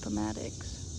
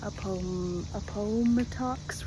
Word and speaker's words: Appomattox: this is pretty crazy it is pronounced atics General Grant's headquarters at atics Manor and President Lincoln spent three weeks here look at that it is it is funny when I actually look up how to pronounce things that in a book I've just been reading however I feel like it and in my head I've always been pronouncing that a ax River not even close but when you're reading